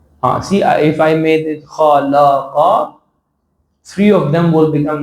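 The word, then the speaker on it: خَلَقَ: You have to say la. Khalaqa. Okay, this is perfect. So in the beginning, the pronunciation is a bit not very much usual to us. But the more we go, this pronunciation will be habitual to us. So while you are reciting, you will not say kha, la, qa. It will become something else. But since you are repeating it constantly, it will become eventually very easy to pronunciate.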